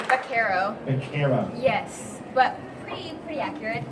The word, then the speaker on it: Baquero: Did I pronounce that correctly? Baquero.